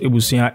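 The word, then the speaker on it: abusua: Okay, so it's A-B-U-S-U-A, but it's pronounced Ebusuan.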